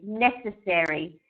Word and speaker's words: necessary: word here for you necessary you emphasize the first e not the second one it